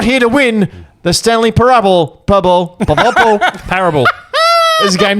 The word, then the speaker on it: Parable: Stanley parabal we all know what the Stanley parab is par Ben can you pronounce it please par parabs I think you'll